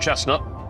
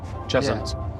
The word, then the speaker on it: Cheshunt: Cheshunt, I think that's how you pronounce it. Not chestnut, Cheshunt.